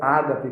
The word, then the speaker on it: ágape: sua esposa vice-versa e o amor agape ou Ágape como nós popularmente chamamos embora a pronúncia mais correta de acordo com os nossos desejos até seja agap né são esses três